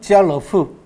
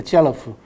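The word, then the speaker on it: 家乐福: 한자로 가락복이죠. 그죠? 집안의 즐거움과 복이. 그죠? 발음은 지알러프. 그렇게 됩니다. 지알러프. 그러니까 까르푸하고 비슷하죠. 그죠?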